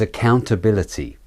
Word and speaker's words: accountability: The next word is accountability.